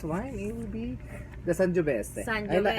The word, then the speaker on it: Sangiovese: Okay, so our next wine, it will be the Sangiovese. Sangiovese. I like to pronounce it very Italiano. Sangiovese, Yes, okay.